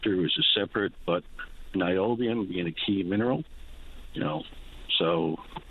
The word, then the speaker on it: niobium: And one thing people didn't look at in the area is, there is uranium up there, which is separate, but niobium being a key mineral, so very hopeful for Search again.